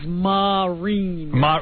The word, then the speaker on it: Marin: Carol Marin or Marine, as Robin says. I saw a pronunciation guide that said it was Marine.